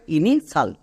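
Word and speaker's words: initial: যেমন এক্সাম্পল দেখো ইনিশাল, এখানে দেখো শব্দের একদম শেষে TIAL আছে, তার মানে এটা হচ্ছে ওয়ার্ড প্যাটার্ন এবং এর জন্য উচ্চারণ হবে সাল। এখানে টি এর জন্য অটোমেটিক তালিবস্য হয়ে যাবে, কিচ্ছু করা লাগবে না, শুধু এই সিম্পল ওয়ার্ড প্যাটার্ন মনে রাখলেই হবে। চলো এবার উচ্চারণ করো, দেখো কত সহজে হচ্ছে। INI ইনি, নেক্সট TIAL সাল, তাহলে একসঙ্গে বসিয়ে দাও ইনি সাল।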